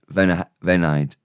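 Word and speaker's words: f'enaid: Venaid. It's just saying v enaid quick with an apostrophe between.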